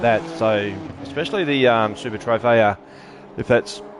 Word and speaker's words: Trofeo: So especially the Super Trofeo, if that's how it's pronounced. It probably isn't. Trofeo, thank you, mate.